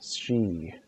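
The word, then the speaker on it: Sidhe: Guess it was a warrior of the she. That's how it's pronounced.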